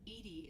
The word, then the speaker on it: EDI: are you named Ed Ed is thetic pronunciation of Eed that is an acronym for enhanced defense intelligence how are you getting